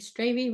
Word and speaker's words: Stravy: Okay, I'm going to go now on to the group that I was in with Jerry Stravy, Rhymes with Gravy.